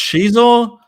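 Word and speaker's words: Xizor: It's pronounced Shizor.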